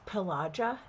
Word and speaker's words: Pelagia: to say that word, it's Pelagia. That's the Americanization of the Finnish pronunciation, of course.